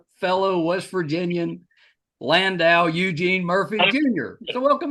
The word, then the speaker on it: Landau: I always told them it was Landau, but they never would. They didn't know how to say it, I guess, because most people say Lando or Landu. Yeah. And I I was was, like, it's Landau.